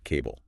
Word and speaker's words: CBBLE: And the text says, pronounce it cable.